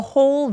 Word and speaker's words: whole: the whole village 할 때 홀 할 때 W는 묵음이에요.